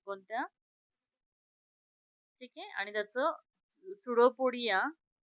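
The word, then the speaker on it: pseudopodia: Now organ of C question, organ of locomotion in amoeba is सुडोपोडिया. सुडोपोडिया spelling काय, सुडोपोडिया. पुसुडोपोडिया वाचायचं नाही.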